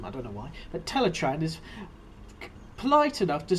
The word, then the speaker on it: Teletraan: last second and 11 teletraan sometimes pronounced teletran but some of them I don't know why but teletraan is polite enough to